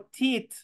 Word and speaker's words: teeth: ustedes encuentren en inglés, cualquier palabra, cuando encuentren una doble E, esa se escribe doble E, pero se pronuncia como que ahí estuviera una I.